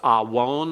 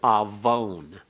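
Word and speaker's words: עָוֺן: someone paga awon now a one is pronounced as though it the wow is a consonant as well as a vowel it's actually just a wow constant with a holum so it's awon or if in modern Hebrew it's Avon Avon so that wow is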